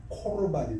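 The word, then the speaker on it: קרבן: 사람이 아버지에게나 어머니에게나 말하기를 내가 드려 유익하게 할 것이 고르반, 우리말로는 히브리어 그대로 발음한다면 아마 코르반이 더 많겠습니다.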